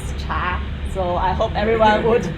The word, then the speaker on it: 茶: in latin and actually the chinese pronunciation is cha so i hope everyone